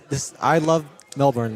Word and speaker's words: Melbourne: and food and yeah, like this I love Melbourne like um there's lots to do and um you know Yeah, but I got to know it is Melbourne. All right. Melbourne.